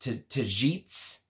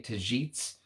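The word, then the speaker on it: Tagetes: supposed to be pronounced tajits I believe I believe the G is pronounced like a j tajits so you have to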